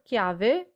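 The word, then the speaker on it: chiave: the word chemist also the word kiave means key in english and coincidentally both kyave and ki have a k sound so that might help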